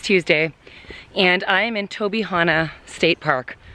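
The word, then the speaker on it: Tobyhanna: So it's Tuesday, and I am in Tobihana State Park. I think that's how you say it.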